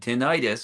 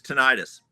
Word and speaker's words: tinnitus: That's the first time I've heard that pronunciation. It's tinnitus.